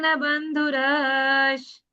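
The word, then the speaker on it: बन्धुरः: बंधु बंधुरस है ना ये बंधुस विसर्ग का उच्चारण श जैसा लेंगे हम कला निधान बंधुस कला निधान बंधु श्री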